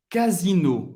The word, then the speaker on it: Casino: Casino, que é também um supermercado que existe aqui na França. Casino. Casino. O S tem o som do Z. Casino.